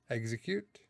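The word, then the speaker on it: Exeggcute: Execute. Execute. It's execute is how I say it.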